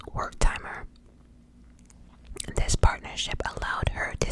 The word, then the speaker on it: Wertheimer: I think his last name is pronounced Wertheimer.